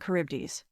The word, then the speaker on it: Charybdis: That's very difficult to pronounce. The Scylla and Charybdis.